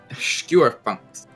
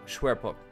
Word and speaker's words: Schwerpunkt: I'm at Schwerpunkt. I don't know if I pronounced that right. Oh, you mean the... Oh, Schwerpunkt.